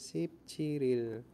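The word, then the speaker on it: 십칠일: jadi conekasyon power ya Eh sipciril ya ini membacanya sipciril itu sudah dipahami ya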